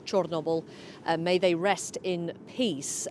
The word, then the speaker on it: Chornobyl: Among them, may all the victims of the Chernobyl disaster, the Ukrainian pronunciation is Chornobyl, may they rest in peace.